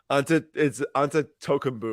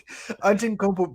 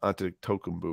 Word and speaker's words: Antetokounmpo: It was like onto Tokumbu or yeah, Antetokounmpo.